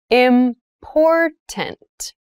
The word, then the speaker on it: important: to consider carefully yes the pronunciation of this word that first t is actually reduced it sounds more like a d in fast speech water is important to